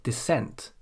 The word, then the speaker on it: descent: We say descent, descent.